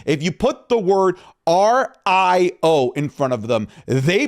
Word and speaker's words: Rio: His name is Rio, as in river, not Rio, and Bravo.